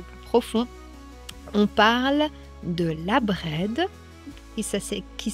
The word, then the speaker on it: Abred: drudisme un peu plus profond, on parle de la Bred qui ça qui s'écrit A B R E D Gwenved qui